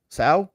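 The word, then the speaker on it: sow: cow SA or so sa all right I'm G have to look this up sa it's the same pronunciation as cow sa is a female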